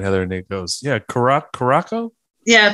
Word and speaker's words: Curaçao: Yeah, we were talking beforehand, Heather, and Nate goes, yeah, Curaçao? Yeah, they has that little symbol under the C to make it soft.